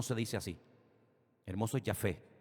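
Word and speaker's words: יפה: Hermoso es Yafé.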